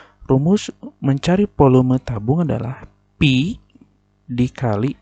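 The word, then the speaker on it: π: Ini dibacanya pi ya. Pi. Pi dikali R pangkat 2.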